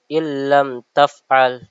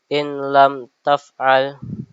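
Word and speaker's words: إن لم تفعل: Contohnya em contohnya ee dibaca illam taf'al tidak boleh dibaca inam taf'al langsung masuk ke bagian em pagian huruf setelah nun sukun atau ee dan juga tan ee tanwinnya.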